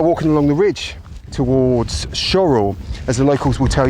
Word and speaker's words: Shorwell: um I'm now walking along the ridge towards shorel as a locals will tell you it's pronounced shl it's spelled shorwell but it definitely is shorl and as we walk along this Stone Ridge